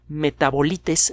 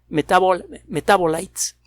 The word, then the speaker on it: Metabolites: El artículo, repito, fue publicado en la revista Metabolites, así se dice en inglés, se escribe en inglés, Metabolites, metabolitos.